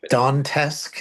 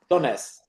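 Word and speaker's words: Donetsk: Total victory in taking the south and you know and that they want Dantes. Is that how you pronounce it? Doness.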